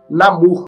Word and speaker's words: Namor: mim é mesmo mas no filme eles eles pronunciam Namur eu acho estranho porque eu só tenho ordem ser dois oss para dar o som de Namur Mas enfim o namor